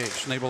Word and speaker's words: Schnable: got a comment here schnable first syllable rhymes with hey hey schnable like ha that's because